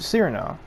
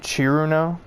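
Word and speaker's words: Cirno: Showdown between Ramelia and Cyrano. Or Chirno. Apparently it's pronounced Chiruno. It's supposed to be like chilled.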